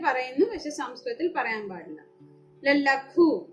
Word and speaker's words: ലഘു: ലഘു, ലഘു, ലായുടെ ഉച്ചാരണം അവിടെ പൂർണ്ണമായിട്ട് ലായുടെ ആ അക്ഷരത്തിന്റെ ഉച്ചാരണം വരണം. ലഘു, ലഘു എന്നാണ് പറയേണ്ടത്. മലയാളത്തില് ലഘു എന്ന് പറയുന്നു, സംസ്കൃതത്തിൽ ലഘു എന്ന് തന്നെ പറയുന്നു.